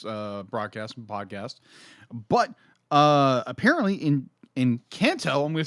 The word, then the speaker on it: Encanto: But apparently in Kanto, I'm going to say this right.